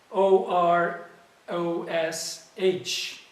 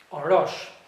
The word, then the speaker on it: Orosh: on and let's see the word let me spell it o r o s h or rush now orosh is a real town in northern